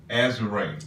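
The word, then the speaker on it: Azurá: And the Azura is pronounced Azure.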